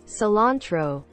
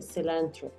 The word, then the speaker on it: cilantro: así cilantro de hecho la pronunciación es cilantro cilantro sí como si la i fuese una e celant si lo vas a pronunciar así y lo recuerdas puedes decir celant pero también puedes decirlo